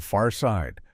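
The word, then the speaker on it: Pharcyde: Let's talk about a group called the Far Side, pronounced the Far Side.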